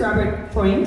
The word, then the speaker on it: Robert Freund: So my first speaker is Robert Freund.